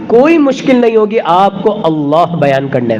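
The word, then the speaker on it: الله: मुश्किल नहीं होगी आपको अल्लाह बयान करने में आप अल्लाह भी कह सकते हैं असल प्रोनाउंस जो है असल जो इसका तलफ्फुज है वो अल्लाह थोड़ा सा लाम को मोटा करना है और इसका एक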